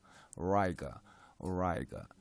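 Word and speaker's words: Auriga: 오리가 또는 오라이가라는, 영어에서는 원어민들은 오라이가라는 발음을 더 많이 쓰기는 해요. 오라이, 오라이가.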